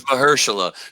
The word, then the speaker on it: Mahershala: It's Mahershala.